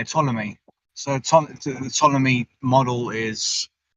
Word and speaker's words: Ptolemy: that i don't think you have to pronounce the p oh yeah ptolemy so the ptolemy model